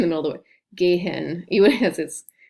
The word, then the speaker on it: gehen: es quiet via gen technically that h is um silent it's what the h